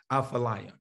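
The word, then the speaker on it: Athaliah: Apha, there's no F in it, but it's pronounced in the Hebrew, Aphaliah.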